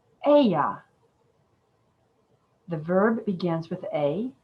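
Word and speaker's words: אהיה: that i am is written with four hebrew consonants a h y h speaking it we might say aya the verb begins with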